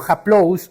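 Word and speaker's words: ἁπλοῦς: Él utiliza una palabra que se pronuncia algo así como haplous o haplotes.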